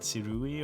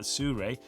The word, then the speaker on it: Sirui: It's from Suré. I hope that's how you pronounce it. not sirui or so but surre and it is the